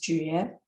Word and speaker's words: 觉: So that character we just saw, in this word it's pronounced 觉 .